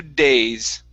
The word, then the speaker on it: days: in your mouth so instead of pronouncing a spanish d use a a an r sound a few days a few days okay almost push your tongue back so your tongue does not touch your teeth one last try here